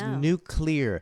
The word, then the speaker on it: nuclear: calls these people out it's nuclear n u c l e a r nuclear nuclear not nuclear there's not another you nuclear say it wrong nuclear president say it wrong vice presidential candidates say it wrong it's like nuclear nuclear